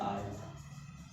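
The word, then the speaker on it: aren't: एन एक्सेंट के साथ आल्ट, आल्ट हो जाएगा। अब आपको पता ही है आर नॉट को हम वही बोलेंगे आल्ट, क्या बोलेंगे, आल्ट, ये बोलेंगे आपको आल्ट, आल्ट बोलेंगे इसको, आल्ट।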